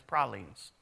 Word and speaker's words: pralines: down from there you can watch them make pralines and yes that's how you properly pronounce it it's pralines all right they will correct you I found